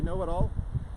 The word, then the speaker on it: Know-It-All: Look me up on all the ethers at IB Know-It-All. The K is silent, so don't bother typing that.